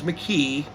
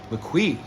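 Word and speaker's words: MAQE: Smiles debut album is an album where the title is spelled M A Q E. I thought it was McKe and then uh a few months back I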